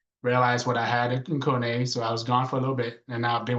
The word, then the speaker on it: Kone: Uh the company's name is actually Kone. It's spelled cone. So, everybody pronounces it as cone, but it's actually Finnish.